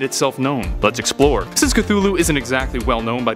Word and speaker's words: Cthulhu: However, the easier form, Cthulhu, is more prevalent, so that's what I'll be using in this video.